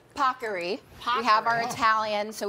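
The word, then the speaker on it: paccheri: the Today Show team made sure I pronounced properly pockery we have our Italian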